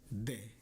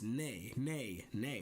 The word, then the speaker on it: 네: Before I even started studying Korean, I always thought to say yes it was de with a D, because that's what it sounded like. But then I started learning and it was like, no, it's actually an N sound. It's ne.